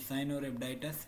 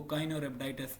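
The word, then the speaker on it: Caenorhabditis: उसको पूरा नाम है साइनोरेबडाइटस एलगन और कॉमनली इसको शॉर्ट फॉर्म में सी एलगेंस भी पढ़ा जाता है। साइनोरेबडाइटस और ब्रिटिश के अंदर इसको काइनोरेब्डाइटस प्रोनाउंस किया जाता है। बट इट्स अप टू यू।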